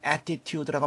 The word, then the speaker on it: attitude: attitude, 우리가 보통 attitude라고 말하죠. 요 t가 양쪽 모음 사이에 씁니다. 그래서 L로 발음되는 경우가 아주 많습니다.